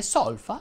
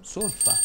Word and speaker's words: solfa: Come curiosità ti dico anche che si dice crosta e non crosta e anche solfa e non solfa.